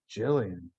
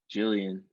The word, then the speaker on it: Gillian: Friend of the show, you say her name wrong. Jillian. Jillian. Animal. What? Jillian, That's for what it sure. said. Not Gilligan Island.